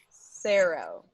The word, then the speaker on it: Saro: There's an arrow in the logo. Saro.